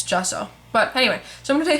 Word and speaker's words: gesso: a pet peeve of mine but it is pronounced gesso not gesso um even though it's spelled g e um